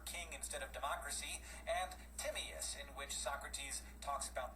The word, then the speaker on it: Timaeus: Now we was hearing there was basically two pronunciations. You was hearing one pronunciation of the book that of the title of the book that Plato wrote, Timaeus. We was hearing that pronunciation, Timaeus.